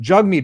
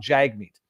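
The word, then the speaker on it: Jagmeet: pronounce it it's not Jag meat he says uh my name's jugg meat it pron you pronounce it like hug me or something stupid but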